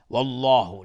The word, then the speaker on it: الله: والله، لفظ جلاله استعلاست، غلیظ تلفظ میشه.